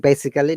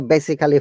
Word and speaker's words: basically: Basically, yes, not basically. Do not say basically from today. Do not say, once again, practice it. It will be good practice. Do not say basically. It is basically.